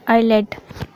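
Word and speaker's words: islet: जब एस के बाद एल आता है तो एस साइलेंट होता है। Example island, आइलेट।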